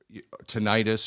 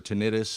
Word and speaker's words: tinnitus: Some of you know that I've had some ear problems, my left ear, for almost a year, and with tinnitus or tinnitus, however you want to pronounce it, which is a loud ringing in the ear.